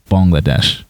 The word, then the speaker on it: Bangladesh: Shreya wasn't answered, what is Bangladesh, which she pronounces Bangladesh. I'm assuming that's how it's pronounced in Bengali, the main language spoken in Bangladesh.